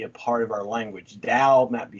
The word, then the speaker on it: Tao: spelled t-a-o instead of d-a-o in english but the primary pronunciation is about the same doubt dao and it means way